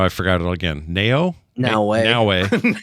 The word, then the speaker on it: Naoe: How you pronounce her name? Shoot. Naue? No, it's not. Is that it? Wait, who are you talking The about? girl. The girl's Naoe? I thought it was You're right, it's Naoe, but it's spelled Naoe. It's just a weird spelling.